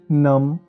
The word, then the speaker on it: numb: NUMB नम, DUMB डम, THUMB थम, COMB कोम। इन सब शब्दों में बी प्रोनाउंस नहीं हो रहा, सिर्फ एम की आवाज़ आ रही है तो बी साइलेंट है दोस्तों।